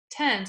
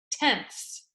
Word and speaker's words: tenths: It's not tens, it's tenths.